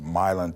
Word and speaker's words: Milan: up in Tennessee West Tennessee a town called Milan some would pronounce a melange like Milan it but we call it Milan Tennessee we came here from Korea but Tennessee